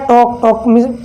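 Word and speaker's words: talk: और ऐसे हो गया आफ, आप का मतलब होता है आधा, ऐप के पहले एल आ रहा है तो यहाँ पर ये एल साइलेंट हो जाता है। ऐसे हो गया टॉक, टॉक मीन्स यानी बात करना होता है।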